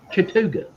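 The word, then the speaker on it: Chattooga: have a county here take out take out the a and n in chattanooga you would figure that that's pronounced chatugar you would think is chatuga you go to that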